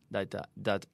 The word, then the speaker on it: that: You have to stick out your tongue. Yeah, through your teeth.